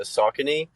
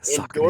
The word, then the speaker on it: Saucony: know how to say the brand, but the Saucony, um, Oh yeah, yeah. How do you say en- it? Saucony.